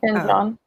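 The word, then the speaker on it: Ken Jeong: So you guys know stand-up comedian Ken Jong. Am I pronouncing that correctly? Ken Jong.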